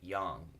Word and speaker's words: yang: mispronounced says yang but a more accurate translate pronunciation would be young and young we'll talk about that symbol in